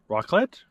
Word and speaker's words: raclette: Raclette? Raclette. Raclette. Raclette. Raclette. Raclette. Okay, it's pronounced raclette.